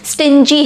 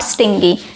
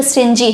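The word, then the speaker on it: stingy: ध्यान रखिएगा इसका प्रोनाउंसिएशन स्टिंजी है, नॉट स्टिंगी। ठीक, तो स्टिंजी है।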